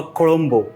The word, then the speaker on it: Kuzhambu: Well, today's recipe is a kolombo. Well, written ZH but pronounced with a R.